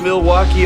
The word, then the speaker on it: Milwaukee: Do you come to Milwaukee often? actually is pronounced milwauke for the good land.